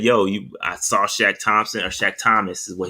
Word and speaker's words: Shaq Thompson: the press conferences although he said his name wrong uh he called them shaq thomas uh davion nixon did